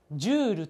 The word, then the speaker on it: ジュール: ありますよねこちらはジュールと読みます読み方をしっかり